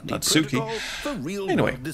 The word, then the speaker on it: Natsuki: route of choosing Natsuki Natsuki as I kept calling her I forgot that a Japanese language you put emphasis on the first syllable so it's not Sookie Natsuki stuff's gonna happen on